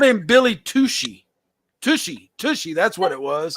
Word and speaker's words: Tucci: But he's like, dude, my name's Tucci, not Tushy.